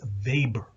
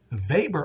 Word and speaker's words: Weber: early theorists is max weber i know his name seems like it's pronounced weber is actually pronounced almost like a v now weber is interested